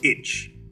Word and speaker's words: ITCZ: the intertropical convergence zone or itcz pronounced itch is a major factor